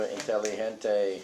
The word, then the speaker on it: inteligente: Oh, inteligente. Inteligente. The G sounds is ch, ch, Yeah. he, he, Hey, he, he. inteligente.